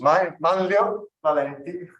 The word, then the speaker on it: Manlio Valenti: How do you pronounce it? Which one? Yours. Manlio Valenti.